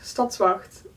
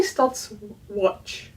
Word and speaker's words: Stadswacht: Oh, that's a word, Stadswacht. Or they say Stadswatch. Stad the city, watch the English words instead of wacht, the Dutch word.